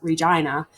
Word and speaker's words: Regina: And at one time, the town motto for Regina was the town that rhymes with fun.